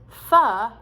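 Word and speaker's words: phở: food from vietnam called p h o which we pronounce as foe now apparently um it's pronounced fa in vietnam but i was at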